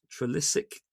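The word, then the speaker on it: Trelissick: Uh we've got Trilysic in Cornwall. Julia will be very proud of me for pronouncing that correctly.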